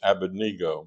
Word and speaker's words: Abednego: You probably heard it, Abednego, right? Uh, it should be pronounced Abednego, but we're not going to camp on that.